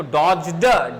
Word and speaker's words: dodge: अगर डी के बाद जी आ जाए, ठीक है, और डी के बाद जे आ जाए तो भैया डी का उच्चारण नहीं करते हैं, तो इसको डॉज्ड, डी मत बोलना, डॉज बोलना।